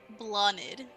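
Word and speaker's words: Bláthnaid: And Blonid. Wanted. Spelled BLA with a accent mark. BLATHNAID. Oh my god. Nice. What a name.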